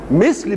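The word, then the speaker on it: مِثْل: واما ان تنطقها مثل مثل بكسر الميم وسكون الثاء مش كده ومثل بفتح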